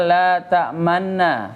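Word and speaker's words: لا تأمنا: Tidak, bukan, cuman hanya isyarat saja monyong, tapi bunyi u-nya hilang. Ya. Bunyinya bunyi u-nya hilang, hanya isyarat gerakan bunyi domah, huruf domah, tanda domah u gitu ya.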